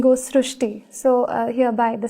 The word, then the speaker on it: Srishti: We have heard of Srishti, but this is a very unique name, Srishti. So in Marathi, the word Ri is pronounced as Ru. So that is why the pronunciation goes Srishti.